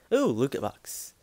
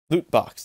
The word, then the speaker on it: loot box: can't do it oh LCA box loot box not Luka box that weird was a weird pronunciation for me yes back out of